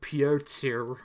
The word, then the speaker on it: Piotr: So Dance's dad, Peter, his name, pronounced Piotr.